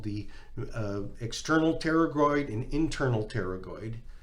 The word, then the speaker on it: pterygoid: There's what's called the external pterygoid and internal pterygoid. It's actually spelled like a P, like a pterodactyl.